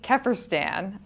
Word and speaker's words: Kefferstan: And this week we have Maddie Keerstan, whose name I think I pronounced correctly.